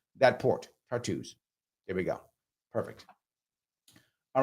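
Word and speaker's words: Tartus: tart there we go that's that's how you pronounce that Port tartos here we go perfect all right um let's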